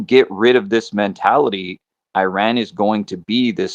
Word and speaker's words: Iran: Firstly, um you should learn how to say Iran. It's not Iran. If you really want to talk about a country speaking English right now when I speak Farsy, I will pronounce But it's Iran. Everybody Everybody can say don't interrupt. Everybody can say Iran and everybody can say Iranian and Iran just is not even the name of the country.